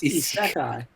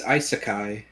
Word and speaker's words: isekai: much I want okay it's isai it's isekai thank you ice Kai yeah enjo my guy